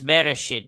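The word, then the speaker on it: בראשית: So I'm pronouncing it differently. It's Bereshit, but bet in Rosh, in the head.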